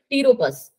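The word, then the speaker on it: Pteropus: और यहाँ पे ना जो पी होता है वो साइलेंट होता है, तो इसको क्या पढ़ोगे, टीरोपस।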